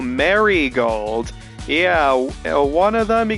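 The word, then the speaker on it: Marigold: uh Rose uh uh how do you pronounce her last name uh marold or oh Mary gold yeah one of them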